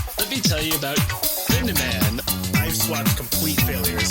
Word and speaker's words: Yume: It is Yume. Yume Nikki. That's how you pronounce it.